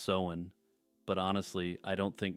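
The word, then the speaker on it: Samhain: a couple months back that Sam Hine is actually pronounced se but honestly I don't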